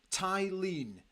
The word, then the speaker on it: Thelin: David gold says uh yimy T tyen is how the swedes pronounce it yimy tyen oh this is going